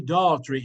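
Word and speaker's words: Daugherty: going to be Harry Daltrey Harry Daltrey and it's spelled d-a-u-g-h-e-r-t-y Harry Daughtry is the attorney general he's also the best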